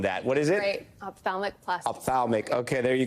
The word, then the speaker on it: ophthalmic: And doctor, the first thing you're going to do is you're going to correct my pronouncer on that. What is it? Great. Ophthalmic plastic.